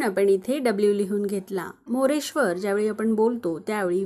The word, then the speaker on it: मोरेश्वर: इथे आर लिहून घेतला र हा शब्दात शेवटी आहे आणि जसं की मी सांगितलं शब्दात शेवटी व्यंजन आल्यास त्याच्यापुढे अ चा उच्चार होत नाही म्हणून आपण आर च्या पुढे ए लिहिणार नाही मग मोरेश्वरच स्पेलिंग काय तयार झालं